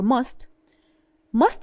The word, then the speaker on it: must: when we speak about our pronunciation for must is ending in a T here. Do you see this T? So if this T is followed by a consonant, we usually say it light or drop it.